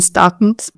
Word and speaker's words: Stockton: Yeah, I lived in Stockton. The Stocktonian accent doesn't really pronounce the T. Stock.